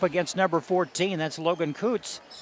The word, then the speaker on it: Kutz: That's Logan Kutz. Did I pronounce that right? That's right. K-U-T-Z is spelled.